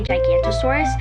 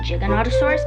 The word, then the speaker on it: Giganotosaurus: And also, I'm also mad because most people say say Gigantosaurus, but it's actually Giganotosaurus because I actually read the pronunciation guide.